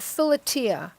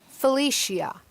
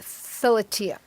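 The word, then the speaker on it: philia: Agape pragma Mania and Fila or as they say in um English Felicia but I I'm going to stick with Fila because that's how you say it in Greek okay and um so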